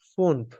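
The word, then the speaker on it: fünf: five কে বলবো আমরা ফুনফ pipe ফুনফ এখানে দেখেন ইউলাউড আছে ইউলাউড হলে কি হবে জিবাটা একদম গোল হয়ে যাবে যখন আমরা উচ্চারণ করবো তখন জিহ্বাটা গোল হয়ে যাবে ফুনফ এখানে লেখা আছে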